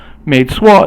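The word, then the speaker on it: 没错: 没错 is 二声. 没 is also like 不, but then 错 is basically fourth tone. So 不错 means usually not bad, and then 没错, and you can also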